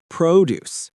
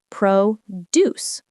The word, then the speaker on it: produce: The word produce can be a noun or a verb, but the pronunciation changes. When it's a noun, meaning fruits and vegetables, we say produce.